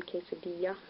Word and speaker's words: quesadilla: sounds like any so when you encounter double LS it sounds like yeah like in quesadilla for Rodia which is